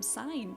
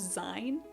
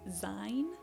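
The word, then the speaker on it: Sein: But I think his name is actually pronounced Zin, in which case I'm so sorry for the pronunciation.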